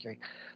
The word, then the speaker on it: Gerry: And doting father and grandfather, Gary, it's Gerry, but it's pronounced Gary, lives in his dream house on a beautiful lake in Indiana.